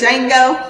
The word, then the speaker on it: Django: Django. The visual candy. The D is silent.